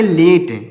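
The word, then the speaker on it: late: से हम इसको पढ़ेंगे लेट। क्या पढ़ेंगे? यल से हो जाएगा ला, और ए से हो जाएगा ए की मात्रा, और टी से हो जाएगा ट, और यहाँ पर ई साइलेंट हो।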